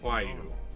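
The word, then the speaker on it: Roaille: R-O-A-I-L-L-E is pronounced Huayu.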